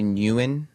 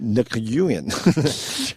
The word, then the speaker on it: Nguyen: Who's this one Betty Nguyen? How is Betty the king Nicky union gotta pronounce that G Sam Yeah Every letter that's in a word is there for reason.